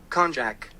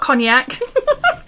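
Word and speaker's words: konjac: it up like that the pronunciation of this word is sounds like kjack kjac not cognac it's a kjac sponge there you go so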